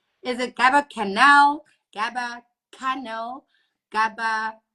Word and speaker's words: Gaba Cannal: Like, is it Gaba Cannal, Gaba Cannal, Gaba? Like, how do we actually like? Gaba Cannal. Gaba Cannal.